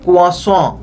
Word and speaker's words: croissant: तो खैर इस ब्रेड के सही प्रोनाउंसिएशन होती है कुआस। छोड़े इस फिजूल बहस को। हमने तो इस मजेदार ब्रेड को चाय में ही डुबोकर खाना है। अब वो क्रोसाट हो, क्रोस हो या